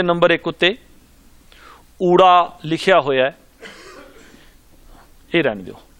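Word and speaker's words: ਊੜਾ: ऊड़ा, इस दा उच्चारण ऊड़ा है, पर बाहर दे जम पल बच्चे इस नूं ऊरा बोलदे ने, ऊरा, इह जिहड़ा है इह गलत है, इहदा उच्चारण है ऊड़ा।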